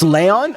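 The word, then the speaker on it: Léon: How do you pronounce an accented E or sorry, Nay? Is that Or is No, that's the N with the accent. I Leon the lion. A Leon. It's Leon. Okay. Just e acute like the e in touch.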